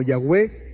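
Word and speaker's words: Yahweh: I a e h a menudo pronunciado como yahwe o Jehová este nombre es tan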